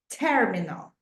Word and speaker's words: terminal: syab passport control terminal terminal is in Spanish but in English terminal the stress goes in the first syllable toilets toilets restrooms right